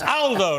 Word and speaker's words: Aldo: He picked me up, but it's Aldo, not Aldo. Aldo is a very British pronunciation of an Italian name.